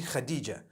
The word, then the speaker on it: Khadija: I would say Hatis for that. No, it's actually Khadija.